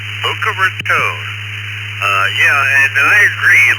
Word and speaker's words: Boca Raton: Scott in Boca Ranton, Florida. It's kind of hard to pronounce. Uh, tell me if pronounced it right. Down to you. Uh, Boca Raton.